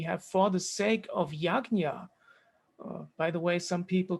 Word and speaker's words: yajna: different uh teachings and depending on what your mother tongue is you will pronounce sanskrit differently even people in india